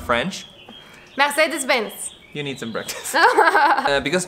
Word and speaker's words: Mercedes-Benz: Now, the correct pronunciation is Mercedes-Benz. No, in German, the R is like a G. Mercedes. Yeah, but also not too much because otherwise you sound French. Mercedes-Benz.